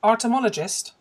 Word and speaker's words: artomologist: I want to talk to you about your self-defined job title of, I think I pronounce it this way. Is it artomologist? That's exactly correct.